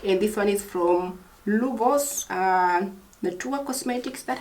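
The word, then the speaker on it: Luvos: So next one we have a mask, and this one is from Lubos Natura Cosmetics. That's how you pronounce it, Lubos.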